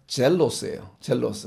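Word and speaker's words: ζῆλος: 쓰는 헬라어 단어입니다 그래서 헬라어 발음도 마찬가지로 뭐냐면 젤로스 그러니까 영어랑 비슷하죠 젤러스라고 헬라어 단어 자체가 제일로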